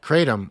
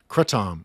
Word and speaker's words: kratom: a natural plant opioid called kratom or kratom, or in Thailand, it's pronounced kratom, because that is a much weaker partial opioid agonist versus a full power, full opioid agonist.